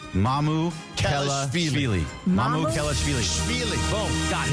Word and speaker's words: Mamukelashvili: Mamukelashvili. Has agreed to Alex, is the easiest way to pronounce it. Mamukelashvili. Mamukelashvili.